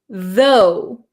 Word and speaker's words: though: word you have is though though so there's no R sound right zo you have a strong th sound vth so it makes um